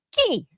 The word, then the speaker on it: qui: Qui? Qui? Siapa? Qui? Comment ça s'écrit? Q-U-I. Qui? Qui? Macam kita sebut qui, kunci.